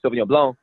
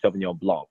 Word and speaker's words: Sauvignon Blanc: But I say Sauvignon Blanc, other people in the States, say Sauvignon Blanc, they pronounce the C at the end.